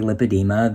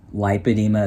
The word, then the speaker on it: lipedema: is it is wrong most experts say lipedema though lipedema is also an acceptable pronunciation and in the beginning